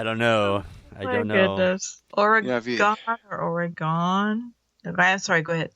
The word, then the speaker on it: Oregon: Oregon or Oregon? Okay, I'm sorry. Go ahead, Tom. I'm sorry. Argon.